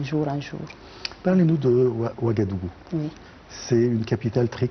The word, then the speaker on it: Ouagadougou: À Ouagadougou, il y a beaucoup de... Je prononce bien le mot.